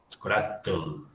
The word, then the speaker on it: chocolatl: Fijaos que hay un cierto parecido entre el náhuatl y aquí esto se pronuncia como tomatl, chocolatl.